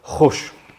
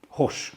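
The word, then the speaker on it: Goes: Yeah, and this guy's in Holland and his name is Nico and then it's G-O-E-S and I think you pronounce that Hosh. Hosh, I think.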